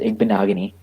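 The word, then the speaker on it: Igbinoghene: It's pronounced Igbenogany. It's not that hard. It's not that hard. It's not that easy either.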